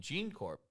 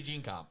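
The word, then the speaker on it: GeneComp: You are surprised that an important executive in Gene Corp company, Gene Comp company. I've been saying it wrong this whole time. Ooh, It's actually Gene Comp.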